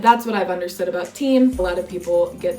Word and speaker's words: TIM: Point number 4 today is about team. Team. Okay, pronounced the Italian way.